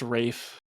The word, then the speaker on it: Ralph: It's spelled Ralph. It's pronounced Rafe.